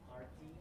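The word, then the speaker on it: Aarthi: Yeah, it's Artie, but she pronounces it Arthy.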